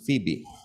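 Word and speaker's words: Phoebe: ஆங்கிலத்தில் her name is pronounce is ஃபீபி.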